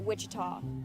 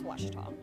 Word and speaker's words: Ouachita: Back in Texas, everybody pronounces it Wichita, but really, it's Washita.